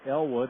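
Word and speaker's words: Eylward: Mike Elwood, that's spelled E-Y-L-W-A-R-D.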